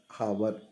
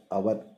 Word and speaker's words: hour: H is silent గా ఉంది. hour, hour, an hour, an honest man, an historical novel.